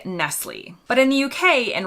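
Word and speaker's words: Nestlé: is correct Nestle the accent on the last e is what gives it away changing the final sound into Nestle instead of nestle or Nestle again you'll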